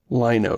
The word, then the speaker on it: Lino: I've always pronounced this name Lino, so thank you for the... I mean, it should be obvious. It looks like Dino. Lino, Dino.